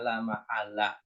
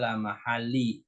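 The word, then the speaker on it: لا محلّ: perhatikan la mahalla Nah di sini bacanya la mahala Jangan dibaca la mahalii karena sini ada lam ya Ada la la di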